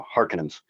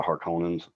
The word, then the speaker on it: Harkonnens: the hardcore is and i didn't like the way they pronounced harcon and they called them the harkins uh but uh that they're the harkonnens and that's who uh